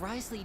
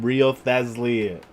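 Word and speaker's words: Wriothesley: No, this entire time I've been calling him Rio Thesli.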